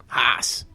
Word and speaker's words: Haase: Think of like horse, but say it like you're in northern Maine. Haase. Haase. Haase.